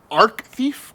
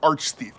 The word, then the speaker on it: Arch-Thief: Arc-thief or arch-thief? Cause it's not "architecture." No, it's clearly "arch" You have Archbishop of Canterbury you have Archduke Ferdinand -Action!